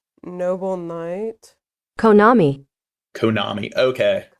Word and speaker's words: Konami: Konami. Konami. Okay. Konami.